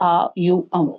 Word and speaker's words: ओम: alignment exercise कहते हैं ओम का उच्चारण है ठीक है आ यू अम इसका आप उच्चारण कर